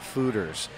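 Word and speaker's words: foeders: Those are 37-barrel new American oak fermenting fooders. Fooders, that's right. Fooders. I've been mispronouncing it all day.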